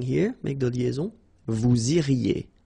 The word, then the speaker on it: iriez: Then vous iriez. So same thing here, make the liaison. Vous iriez. Remember, when you get this EZ at the end, you get the sound E.